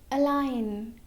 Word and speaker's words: align: For example, align. In this word, before N, there is letter G. So letter G is silent.